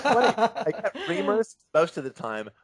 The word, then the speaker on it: Reimers: reamers I don't say rhymers it's fun I reamers most of the time rhymers occasionally and every once in a while just